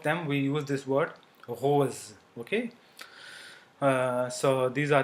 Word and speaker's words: rose: we use this word Rose okay uh so these are the two sounds so at the starting or before consonant it is pronounced as Sir or between two vowels it is pronounced as z z okay